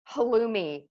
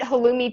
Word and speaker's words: halloumi: halloumi um how do you say it again halloumi i think it's spelled h-a-l-l-o-u-m-i no i like t that sounds